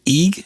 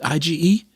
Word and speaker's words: Ige: the deaths of governor david egg is that how you pronounce it ige yes i don't know uh who has